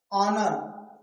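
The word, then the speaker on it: honour: ऑनर। ऑनर। ऑनर। ऑनर मतलब क्या होता है? सम्मान। ठीक? ऑनर मतलब सम्मान होता है। तो यहां भी ओ से पहले एच है। लेकिन एच क्या है? साइलेंट।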